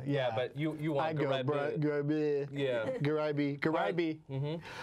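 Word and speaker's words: Gharaibeh: Garaiba. Garaiba, yeah. Yeah, but you want Garaiba.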